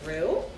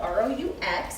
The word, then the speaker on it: roux: And what we're doing is we're making something called a roux. And it's spelled R-O-U-X, it's not roux like in Winnie the Pooh.